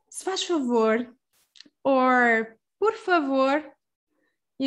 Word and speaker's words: se faz: And there's the pronunciation, se faz. So you see that the Z at the end or Z at the end is going to be transformed into a sh sound.